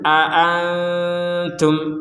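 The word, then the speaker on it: أأنتم: ada dua Hamzah ya ada dua Hamzah maka harus jelas dua-duanya ini jangan sampai dibaca seperti itu Qul Nah ini kan dibacanya dengan terlalu terlalu santai gitu jadi seakan-akan lemah sekali jadi kita harus membacanya Hamzah ini dua-duanya a a a a seperti tapi ya dipercepat Qul aantum jangan sampai dibaca Qul nah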